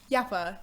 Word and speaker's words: Yapa: Yapa? Yeah, Yapa here today.